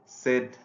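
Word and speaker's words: said: Bed, dead, সেড। আমরা অবশ্যই সেইড উচ্চারণ করব না। আমাদের দেশে অনেক মানে সেইড উচ্চারণটা আমরা শিখেছি, কিন্তু আসলে এটা হবে সেড।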